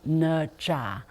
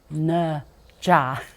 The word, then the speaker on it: Ne Zha: probably heard of him yes his name is nja say it with me nja I know it's difficult to pronounce but it's possible the it's a mythical